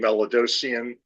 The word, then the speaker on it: Melidosian: Hi, could you please state your name and spell it for the stenographer? Good afternoon. C-R-A-I-G, last name Melidosian, M-E-L-I-D-O-S-I-A-N.